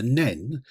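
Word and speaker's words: Nene: aen and cherwell and the arguably pronounced River nen which shall remain pronounced this way except when referring to it east of thron most of North an's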